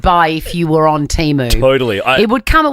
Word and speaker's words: Temu: night out my favorite is um that is temu U Keith Urban do you know that we've been we've been mispronouncing that magical website teu oh teu teu sounds way better it's teu